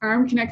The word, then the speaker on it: Armknecht: profile so it's arm connect and I'll spell that it's a-r-m-k-n-e-c-h-t so you're you're chuckling there I see um it's arm connect like arm connected to your shoulder and I was wondering